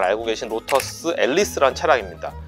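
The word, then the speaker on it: Elise: 다음으로 소개시켜드리고 싶은 차량은 여러분들도 이미 잘 알고 계신 로터스 앨리스라는 차량입니다. 일본에서는 독일식으로 말하면 엘리제라는 표현이 공식 명칭으로 굳어져서 뭐 엘리제라고 불리기도 하는데, 제가 보기엔 앨리스라는 명칭이 원래 발음에 더 가까운 표현이 아닌가 싶습니다. 로터스가 90년대 이제 그 GM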